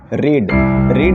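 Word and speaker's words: read: ठीक है छोटू, चलो छोटू रीड का V2 छोटू क्या होगा? देखो रेड छोटू क्या पढ़ेंगे इसको? रेड। स्पेलिंग सेम रहेगा बट पढ़ेंगे छोटू क्या? रेड।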